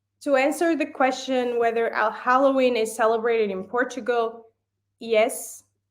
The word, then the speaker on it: Halloween: Anyway, so Halloween is celebrated in certain cities in Portugal, and we don't call it Halloween, we call it Halloween.